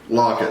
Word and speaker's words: Lockett: it was number 16 I kept saying his name wrong fan Tyler Lockett lock it okay so he was